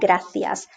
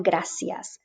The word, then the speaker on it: gracias: vowels a and e it becomes soft hence the pronunciation the barcelona gracias and in latin america like an s barcelona gracias so those are the